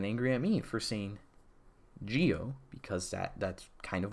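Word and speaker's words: Zi-O: like it's actually pronounced Z oh because it's spelled Z oh okay yes it's spelled zo but they pronounce a Gio you can pronounce a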